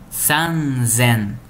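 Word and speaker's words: 三千: 3000, aqui nesse caso, a pronúncia é sanzen.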